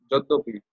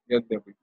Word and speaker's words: Yadyapi: So yadi api becomes joddopi in Bangla they pronounce it. Joddopi. Yadyapi.